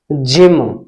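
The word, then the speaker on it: gym: हो या वाई हो, जी के तुरंत बाद ई हो, आई हो या वाई हो, तो ऐसे शब्दों में हम हमेशा जी को ज से पढ़ेंगे। जैसे जी, जी के बाद क्या आया यहां पर, बाई, तो हम इसे पढ़ेंगे ज से, जिम।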